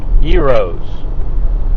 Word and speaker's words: gyro: It was uh basically their their yos spelled like gyro in an airplane.